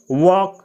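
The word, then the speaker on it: walk: प्रातः वक यानी टहलना इसमें एल का उच्चारण नहीं किया जाता है इसको पढ़ा जाता है वक वक यानी टहलना प्रिपेयर यानी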